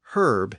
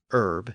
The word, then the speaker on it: herb: H's, and it became herb in Britain. But American English retained the original silent H, and thus the word is still pronounced as herb in American English.